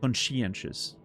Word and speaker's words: conscientious: I think the cons the she part is what makes it make sense to me. Like conscient if I if I skip the she like the e, right? It doesn't work. like I can't pronounce it conscientious if I yeah if I get the e in there properly right conscientious it it suddenly it